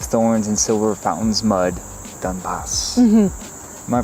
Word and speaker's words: Donbas: okay roses have thorns and silver fountains mud dunbas am i pronouncing that right yes clouds and eclipse stain